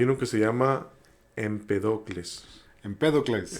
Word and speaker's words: Empédocles: Empédocles. Empédocles. Tiene acento en la E, tienes razón.